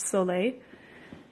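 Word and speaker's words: Sole: a soul a it's spelled Sol e it's pronounced so late this was basically saturated water solution you can't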